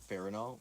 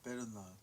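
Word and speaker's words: Perunnal: I think it's actually said Pernal.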